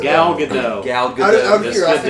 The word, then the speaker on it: Gal Gadot: Before I do this, can someone tell me how to pronounce the actress that plays Wonder Woman? I have no clue. Gal Gadot. Gal Gadot.